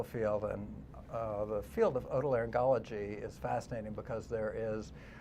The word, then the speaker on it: otolaryngology: Otolaryngology. Yeah, see, it is a hard G, Laura.